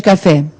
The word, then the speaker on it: café: Qual é a sílaba tônica de café? É o fé. Né? O café.